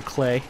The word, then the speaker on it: Klei: It's called Klei. It rhymes with Klei.